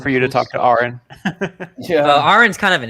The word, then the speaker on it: Aaron Ra: It's pronounced Aaron.